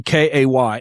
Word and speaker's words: Kay: I have a guest on and I'm like, how do I say your name? It's literally Kay.